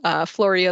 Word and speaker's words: Floria: Floria is my real name, rhymes with Gloria, but all my friends call me.